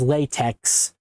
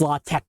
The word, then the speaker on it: LaTeX: Um and you can also you might have also heard of latte which you might have pronounced previously as latex. It's latte because the that X looking thing is actually the uh Greek letter I think it is.